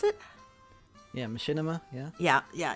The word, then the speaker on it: machinima: it's based on the Skyrim uh uh Oblivion Machima. Is that how you pronounce it? Yeah. Machinima.